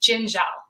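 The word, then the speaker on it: Dziendziel: i don't know but the way that i grew up saying it is jinjal jinjo it looks like a j sound all right so it's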